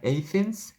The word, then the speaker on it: Athens: In the case of Athens, Athen이라고 하지만 우리는 아테나라고 읽죠. 영어 발음은 Athen이에요.